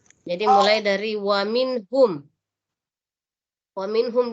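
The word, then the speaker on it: وَمِنْهُمْ: Wa minhum di sini ada nun sukun bertemu dengan huruf H. Minhum. Jadi kita di sini tidak boleh berdengung. Kenapa nun mati bertemu H? Itu hurufnya izhar khalqi. Jadi harus jelas bunyi nun matinya. Wa minhum. Kemudian tidak boleh dipanjangkan, tidak boleh didengungkan. Ya kita tidak boleh berlagu-lagu di sini dan berlama-lama. Wa minhum. Tidak boleh. Jadi langsung dibaca sekilas. Wa minhum ummiyuna.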